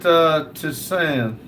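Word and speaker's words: tisane: James said, we pronounce it Tisan.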